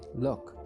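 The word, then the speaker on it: Lugh: his name comes from the celtic god named look which is pronounced l-u-c-k look which is where the leprechaun gained a reputation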